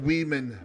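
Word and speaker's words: Weeghman: in 1914 wrigley field then known as wiig min park could be pronounced weeman park hosted its first major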